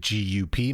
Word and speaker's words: GUP: Is it GUP magazine? I've never understood how to say it correctly. If you are Dutch, it's Gup.